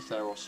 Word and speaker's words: Theros: It's pronounced This Theros.